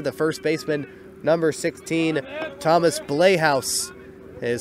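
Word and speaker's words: Blaihouse: He'll bring up the number 7 hitter, the first baseman, number 16, Thomas Blayhouse. It is spelled B-L-A-I-H-O-U-S-E.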